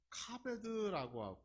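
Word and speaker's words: כָּבֵד: 공경하다라고 하는 이 히브리 원어는 카베드라고 읽게 되는데, 이 말 속의 의미를 보면 무거운 것을 의미해요.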